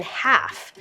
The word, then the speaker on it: half: meet at halfast 7 our silent consonant is the L in half we won't say half